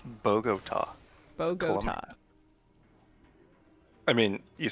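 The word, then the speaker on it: Bogotá: bagot problem how do you say it it's Bogota boo I mean you say it more with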